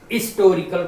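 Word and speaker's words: historical: इसी तरह हिस्टोरिकल है बच्चों, ये यच इसमें हिसिंग है, इसका उच्चारण नहीं करते, हिस्टोरिकल पढ़ते हैं, यानी यच का उच्चारण नहीं होता है, तो आई से स्टार्ट हो जाता है, इसके पहले भी एन लगेगा।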